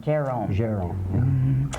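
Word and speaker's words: Gérôme: of the 19th century it's been spelled jerome but it's more like the accent is on the ger jerome so richard lack really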